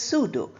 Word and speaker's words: pseudo: pseudo pseudo is false although we start with P we pronounce it as pseudo and that is false